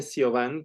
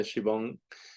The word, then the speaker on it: Siobhan: Yo me llamo, a ver, toda la gente me dice Siobhan porque así se escribe mi nombre, pero en realidad se pronuncia Shivon, pero nadie me puede